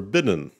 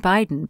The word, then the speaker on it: Biden: Should we vote for Trump or Bidden? We read them as Trump and Biden because of my rule on syllables.